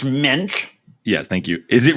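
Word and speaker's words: Moench: Is it Doug Munch is the guy who wrote this originally? Yes. Jarret's going to be the actually guy on this podcast, if you don't know. Actually, his name is pronounced Mensch.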